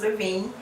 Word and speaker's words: Levigne: It's pronounced Levigne.